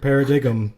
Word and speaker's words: Paradigm: Paradigm. Natural Yes, paradigm. that is exactly what my brain says every time. And I have Every time it comes up. Yep. You put the emphasis on the wrong syllable.